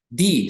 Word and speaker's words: the: e i o u el artículo definido the se pronuncia di de lo contrario es decir antes de consonantes se pronuncia de otra expresión everythings Okay